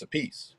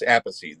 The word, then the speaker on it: Appice: If it's Carbon a piece, it's a piece. Yeah. If it's Vinny, it's Appice. They fight over this. Did you know that? No. This is a family squabble. The sister pronounces it a peachy.